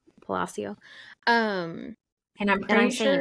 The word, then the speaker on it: Palacio: Palacio.